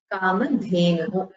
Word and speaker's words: Kamadhenu: Both should have Mahaprana. You should pronounce it with the Maithili, Kamadhenu.